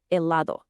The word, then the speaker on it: helado: The H in Spanish is always silent. It's a ghost letter. So the word helado is actually pronounced helado.